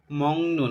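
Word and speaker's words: 먹는: জ্বর আসার সময়ে মগ মংগনুন এখানে মগনুন উচ্চারণ হবে কারণ যদি আমাদের গিয়কবাচি নিয়ন আসে তাহলে গিয়োগটার উচ্চারণ অনস্কারের মত উচ্চারণ হয় এজন্য হবে মগনুন মগনুন কেউ মগনুন কেউ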